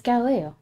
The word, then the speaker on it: Galileo: It's Galileo.